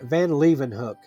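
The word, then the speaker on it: Van Leeuwenhoek: uh in this advertisement a bewigged figure named Van Leven Hook. And I had to uh look up how to pronounce that name.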